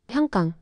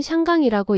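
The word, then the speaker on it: 香港: 해상 무역상들이 향나무 한구라고 불렀고 발음이 퍼짐 발음의 변화와 영문 표기 홍콩 광동어 발음 향강 영국 식민지 시절 영어 발음 편의로 홍콩 표기 표준 중국어로는 샹강이라고 읽음 발음 차이가 지역 정체성을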